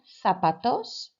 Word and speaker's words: zapatos: So number 1, zapatos. And you may have been caught out by that one, of course, because the pronunciation of the ZA sounds like a THA, fa.